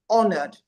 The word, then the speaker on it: honored: of the pronunciation of the word honored. It the H is silent because it's a borrowed French word. So words like air, words like um hour, the H is always silent.